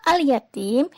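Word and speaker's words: اليتيم: Pada lafal al-yatim, ini terdapat hukum bacaan alif lam qamariyah. Sebabnya, di sini ada alif lam yang bertemu dengan huruf ya. Maka cara membacanya adalah jelas.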